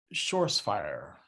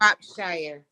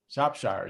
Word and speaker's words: Shropshire: Shores fire. You just told me how to pronounce that before we started. And I still butchered. I'm so sorry about It's that. Shropshire. Shropshire. There we go.